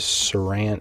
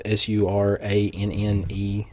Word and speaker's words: Suranne: Her name was Saran. It's almost spelled like Susan, but it's Suranne Jones.